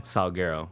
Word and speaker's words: Sulguero: Sulguero.